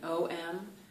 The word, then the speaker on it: Om: when I pronounce it, I'm gonna pronounce it A-U-M, but even if you've seen it written O-M, the idea is that it's those three, the A, the A, Om, all together in terms of sounding it.